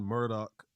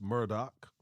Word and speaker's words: Murdaugh: this the name uh it's spelled m-u-r-d-a-u-g-h you've been seeing Murdoch I've been sharing murdal which one is it is it is it properly pronounced Murdoch I read in a news article that is pronounced as murdoc but okay all right